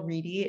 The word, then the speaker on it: Reddy: yes i am reedy it looks like ready but it's pronounced reedy but that's okay um